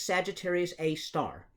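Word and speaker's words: Sagittarius A*: of sagittarius a and we call that sagittarius a with little asterisks there everybody pronounces that as sagittarius a star and so that actually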